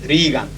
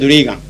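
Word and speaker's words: Regan: and Secretary of Treasury, whose name is spelled exactly the same and pronounced Reagan.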